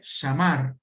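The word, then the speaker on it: שמר: Algo interesante en este pasaje es que la palabra que se traduce como guardar y que se pronuncia shamar hace referencia al cuido.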